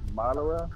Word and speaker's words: Madara: It's Madara, not Madara.